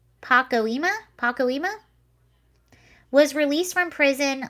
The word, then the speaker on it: Pacoima: she's in her house um how do you pronounce that pocky it's p-a-c-o-i-m-a pacoima pacoima was released from prison last year after